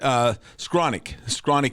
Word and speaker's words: Skowronek: Wide receiver, the Rams, Brett Skowronek here. I think that am I pronouncing that right? Skowronek? Yeah, I think everybody just runs it together like one syllable.